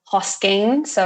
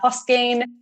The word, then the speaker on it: Hosking: Hosking. There is no S on the end of Hosking. For some reason, people always do Hoskings.